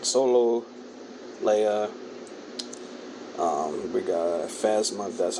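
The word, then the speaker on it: Phasma: we got Han Solo Leia um we got fasma that's how you pronounce it in R2 and the c3p and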